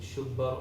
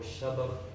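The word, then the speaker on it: Shabbar: That he named his three sons, different pronunciation, Shubbar or Shabar, Shabir, Mushabbir.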